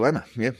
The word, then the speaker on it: Hichilema: Hichilema, yeah.